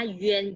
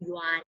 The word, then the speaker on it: yuan: Ini bacanya yuan. Tulisannya y u a n. Bacanya yuan, jangan yuan ya.